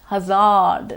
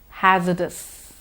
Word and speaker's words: hazardous: last word hazardous hazardous it comes from hazard and not Hazzard like a lot of us tend to say once more hazardous so that was hard